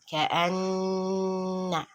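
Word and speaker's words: كأنّ: So it is pronounced as Ka'anna, just like you do, like when the case is for when the reading is idgham.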